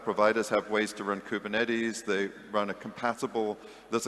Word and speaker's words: Kubernetes: I don't know how to pronounce these K8s. What about K8s and deploy on multi-cloud providers? So that's Kubernetes.